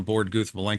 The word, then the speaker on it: Borde: are but borden borda borda okay um thank you for sharing that I all this time I'm getting that from Alan Guth because because he pronounced it borda so I'm pronouncing it bord okay